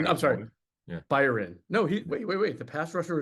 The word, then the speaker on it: Byron: The Eagles claimed off waivers a defensive tackle from the Raiders named Byron Young, Byron.